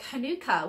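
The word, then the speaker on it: Hanukkah: people pronounce it like Hanukah but personally I think it's pronounced more like Manuka Honey like Manuka honey so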